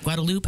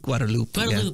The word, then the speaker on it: Guadalupe: guadalupe hmm all right so guadalupe how do you say that i think guadalupe yeah that's good i'm thinking spanish is guadalupe so just a word